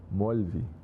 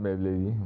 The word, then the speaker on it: Molvi: Molvi. Not Mawlavi, Molvi.